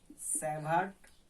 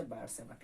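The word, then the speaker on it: Biot–Savart: সেই ফর্মুলার নাম হচ্ছে বায়ট-স্যাভার্ট ল। অথবা তুমি বইয়ে তোমরা দেখবে বাংলা লেখা আছে বিও-স্যাভার সূত্র। ইংলিশে হচ্ছে বায়ট-স্যাভার্ট ল। এটা শুধু উচ্চারণের পার্থক্য, বাংলায় তুমি লেখা আছে বিও-স্যাভার্ট ল।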